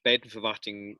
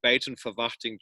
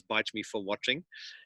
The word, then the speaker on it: Buitenverwachting: We transformed in America from Buitenverwachting to everybody then called us Bite Me for Watching. That was the closest pronunciation that it could get.